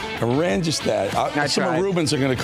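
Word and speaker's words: Oranjestad: Okay, you pronounce that city on the island. Orangestad. Orangestad.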